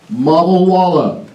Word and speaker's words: Malwala: My name is Malwala. rhymes with cinjun. Cajun malwala rhymes with walawala.